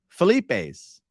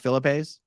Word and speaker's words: Felipe's: eight oh 86 GOP it is pronounced Felipe's and although I've never tried it I'm told the double dips are the best Philippines but you see someone go you are saying Felipe's right not Philippe's it's Fleet base it's